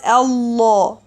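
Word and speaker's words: الله: Lamb, normal lamb, is not heavy, and the name of Allah should be heavy in special cases, as mentioned in the previous video.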